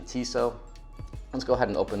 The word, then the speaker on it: Tissot: Uh, even with my Tissot, I thought it was Tissit, but it's actually Tissot.